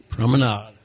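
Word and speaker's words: promenade: And we're by the way, if you just tuned in, we're talking about the prominade prominade. Does not rhyme with lemonade.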